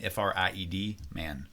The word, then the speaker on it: Friedman: It's spelled like fried chicken, Fried, man, Friedman. Okay, and you're going to find the alphabet video.